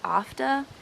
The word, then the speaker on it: after: Like in the word after, even though the R is in the word, we don't pronounce it like in after.